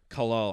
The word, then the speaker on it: Kalle: How did you say it? Well, Kale. You say Kale? It's like Kalle. I can't even say it. It's too Viking for me Oh, to pronounce.